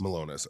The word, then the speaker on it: Milonas: my last name yeah it's how do I pronounce it meus malonis okay yeah because I know you like specifically